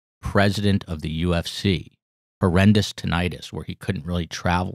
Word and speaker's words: tinnitus: ears oh thing like but you mispronounce it on purposes and i thought it wasn't with an eye it's tinnitus okay you know who had